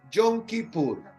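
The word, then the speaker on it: Yom Kippur: El día de la expiación, el yonkipur. Esa es la palabra, la pronunciación hebrea para la expresión el día de la expiación.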